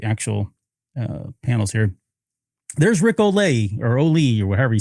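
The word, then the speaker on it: Rick Olié: There's Rick Olay or Oi or however you say his name. Rick Ali.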